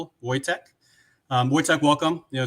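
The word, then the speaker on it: Wojciech: Um, but yes, correct correct pronunciation of my name. My name is Voytech. Uh, to be precise.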